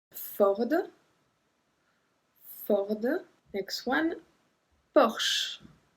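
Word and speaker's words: Bosch: for the next one Bosh Bosh some people said Porsha we said Bosh Bosh also the car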